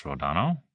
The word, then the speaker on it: Rodano: that old acquaintance rodano that's my name yes you even pronounced it correctly Accent on the second syllable broad a subliminal memory obviously no